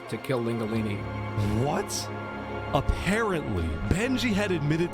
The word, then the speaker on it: Lingulini: His name, for the longest time, I thought it was Linguini. But it's Linguini. Like, there's like extra syllables there. To be punished. And they Lingulini.